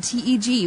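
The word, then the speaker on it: TGE: It's not Odin, T-G. It's Odin, T-E-G.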